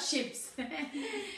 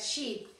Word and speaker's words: sheep: There are 2 sheep, not ships. Because there are, those were boats, yes, but sheep. Sheep, yes. Es con la I larga, sheep, yes, the pronunciation sheep.